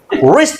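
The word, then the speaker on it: wrist: नहीं करना है भाई रिस्ट watch watch रिस्ट रिस्ट डब्लू को silent रिस्ट watch रिस्ट watch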